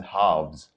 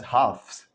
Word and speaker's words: halves: pronouncing these words right i'm pronouncing it as halves i'm not pronouncing it as halfs remember like the sounds are